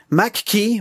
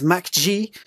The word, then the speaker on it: MAGQI: have not seen before Macke well it's actually pronounced as Mack G they have sent me